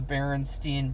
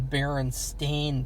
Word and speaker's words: Berenstain: bears everybody thinks that it's called the berenstein bears but in reality it's actually called the baron stained bears because the the real people are called berenstein well that's their name that's how it's spelled and so people people uh have always remembered the wrong thing you actually said are supposed to say the berenstain bears and you know talk